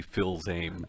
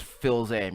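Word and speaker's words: Fils-Aimé: this he said basically I believe it's pronounced Reggie Phil name it is Phil's aim you're right you're right so he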